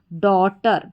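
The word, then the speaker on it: daughter: फिर यहां पर है डी ए यू जी एच टी यहां पर ए यू जी एच टी जो है बीच में है तो इसको पढ़ेंगे डॉ ठीक है? डॉ और लास्ट में अब वैसे अगर टी ई आर को लेंगे तो यह भी एक कोड है टी ई आर इसको टर करके पढ़ा जाता है। तो बन गया डॉटर।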